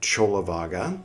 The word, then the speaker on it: Cullavagga: And uh if you'd like to start at the beginning of Chola Vaga, spelled like Kula Vaga, here's the playlist for Chola Vaga.